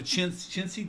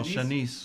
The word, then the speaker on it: Shanice: Really quick shouts out to Chincy, right? Is that how you say it, Chincy? Oh, Shanice. Shanice.